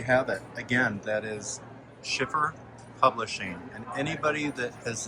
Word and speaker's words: Schiffer: So we were at Schiffer Publishing.